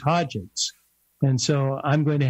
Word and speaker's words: Hodgetts: I've been pronouncing it as it's spelled, Hodgetts, and now you tell me it's Hodgetts.